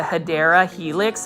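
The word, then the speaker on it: Hedera helix: say that you know the correct way to say English ivy is the hadera Helix but this one has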